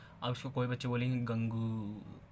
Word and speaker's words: gangue: अब इसको कोई बच्चे बोलेंगे गंगू, है ना, गंगू ही बोलेंगे कोई। भाई देखो, मैंने पहले ही बताया, अपने अपनी प्रोनाउंसिएशन बनाओ।